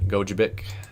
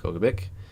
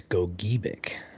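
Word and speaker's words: Gogebic: Monomony County as well as Dickinson, Iron, and Gojabic or sorry, Goabic. I butchered that even though uh I knew it was pronounced Goabick. Actually, according to Michigan.gov, it's Goic or that 11:57 Joel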